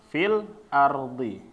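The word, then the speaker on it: في الأرض: ingin jelaskan dulu ya, apabila mat tabi'i ini setelahnya berharokat sukun, ya, maka mat tabi'inya hilang, ya. Jangan dibaca juga mat tabi'inya. Misalnya contohnya adalah ketika membaca ini, fil ardi, ya. Nah, di sini fi-nya aslinya dia 2 harokat, fi, ya. Habis itu di sini sukun karena alif lam, habis itu di sini ardi, ya. Nah, maka jangan nanti Bapak-bapak kalau contoh ini mungkin mudah ya.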